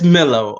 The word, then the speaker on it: Milo: so this is Milo how do you say it quazy it's Millow okay it's Millow get it right end of story with it Milow everybody knows that yeah what's this Milo business is Milow so yes if you're